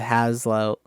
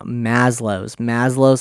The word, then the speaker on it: Maslow's: If you've ever heard of the Haslow, the hierarchy of needs, I think I pronounced that wrong. But no, Maslow's hierarchy of needs.